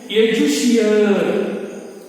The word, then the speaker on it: educere: ಎಜುಷಿಯರ್. ಎಜುಷಿಯರ್ ಅಲ್ಲಿ ಒಂದೇ ಒಂದು ಸ್ಪೆಲ್ಲಿಂಗ್ ವ್ಯತ್ಯಾಸ ಆಗ್ತದೆ. ಏನದು ಸ್ಪೆಲ್ಲಿಂಗ್ ವ್ಯತ್ಯಾಸ ಅಂತ ಹೇಳಿದ್ರೆ EDUCERE. ಹಾಗಾಗಿ ಇದನ್ನ ಎಜುಷಿಯರ್ ಅಂತ ಹೇಳಿ ನಾವು ಉಚ್ಚಾರಣೆ ಮಾಡ್ತೇವೆ.